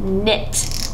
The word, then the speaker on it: knit: be spelled like this but knit has the silent Digraph k n okay let's try this